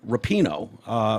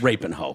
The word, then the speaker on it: Rapinoe: So when they went away from the angels and all that, Megan Rapinoe, Don't you dare say it like that, you son of a bitch. Rapinoe. Thank you.